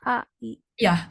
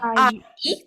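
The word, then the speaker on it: 아이: Lalu yang seb eh I a. Iya, betul. Heeh. Ai bacanya kayak satu kesatuan ya, Kak. Ai. Jadi bukan A ii tapi Ai.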